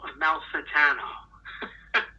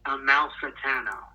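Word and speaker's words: Amalfitano: call to him and asked him how to pronounce this name so Joe from Staten Island take it away it's Joe a Mal satano it's really easy for me a Mal satano all right so hopefully the message is clear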